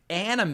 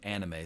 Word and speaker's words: anime: I pronounce it anime. A lot of people today say anime. And for me, anime sounds like something that goes on a sandwich.